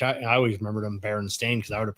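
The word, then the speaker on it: Berenstain: then the baron Baron stain Bears versus the baron stein bears you know actually spelled their last name with an a the baron stain which I I always remembered them Baron stain because I would have pronounced it Baron Stein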